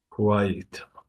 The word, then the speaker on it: quiet: is just quite but number two is qu ye it you you put that extra sound in there to separate the two syllables do you understand Muhammad